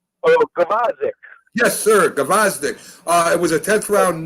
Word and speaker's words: Gvozdyk: when he went up against, and hopefully I'm pronouncing this right, Gvozdyk. Am I saying it right? Oh, Gvozdyk. Yes, sir, Gvozdyk.